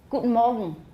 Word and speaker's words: Guten Morgen: But this is the way Germans usually say it. Guten Morgen. Guten Morgen. Guten Morgen. Yeah, just about anything ending in a nasal in German with an obstruent before it will turn into a syllabic nasal at the end.